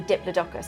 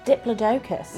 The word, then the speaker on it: Diplodocus: we'll also have the Diplodocus although you pronounced that differently didn't you Diplodocus yeah bit of an argument going on tell us which one's right but some really really